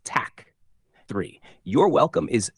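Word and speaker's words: tack: snela two thank you is Tac pronounced Tac three your welcome is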